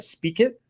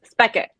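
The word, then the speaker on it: Spekit: Currently, she is at, am I saying it right? Speak It? Is that right? Close, Spec It. Spec It. Oh, I'm so close.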